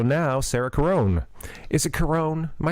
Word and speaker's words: Caron: Is it Caron?